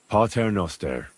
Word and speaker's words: Pater Noster: You're saying it wrong. Listen. It goes like this. Pater Noster, qui es in celis, sanctificetur nomen tuum.